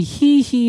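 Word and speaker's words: Gigi: 남자분들은 성격도 다 찌질하게 나오고, 예, GI인데 이게 발음이 히히라고 돼 있더라고요. 지지가 아니고.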